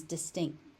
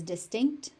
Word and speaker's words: distinct: Sometimes that final T gets unaspirated into oblivion and just becomes distinct. So you'll hear that, but if you want to pronounce it as distinct, that's also perfectly acceptable.